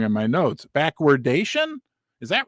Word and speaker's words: backwardation: It's backwardation. It's not backwardization.